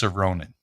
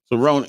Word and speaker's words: Soronen: And the name is pronounced Soronen. Soronen.